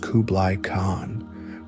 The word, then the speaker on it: Kublai Khan: Kublai Khan, pronounced Kublai Khan, was given the massive task of conquering the